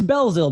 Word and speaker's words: Belzil: His name is Yannick Belzil, or Belzil, I should say, right? Am I saying it right? It's Belzil, but it's fine.